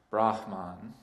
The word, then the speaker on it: Brahman: The pronunciation, it's a breathy sound, Brahman.